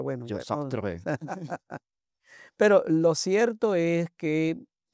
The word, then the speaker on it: Sartre: ¿Cómo se pronuncia? Bueno, Yo, ya no. Sartre.